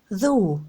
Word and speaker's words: though: Though, for example, used to rhyme with loch, and if the spelling of it was invented today, THO would make much more sense than THOUGH.